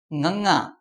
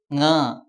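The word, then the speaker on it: ਙ: The letter is nganga and the sound of the letter is nga. If you put the symbol on the top of the letter, it will become nge.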